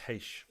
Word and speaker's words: Reis: Apparently it's pronounced Heish.